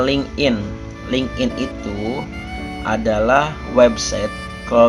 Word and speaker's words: LinkedIn: LinkedIn atau dibacanya LinkedIn.